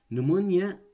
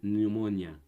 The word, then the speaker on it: pneumonia: نمونيا التهاب رئوي، تمام، التهاب رئوي. البي طبعا لا تلفظ، هي حطوها ببالكم، البي لا تلفظ بكلمة نيمونيا.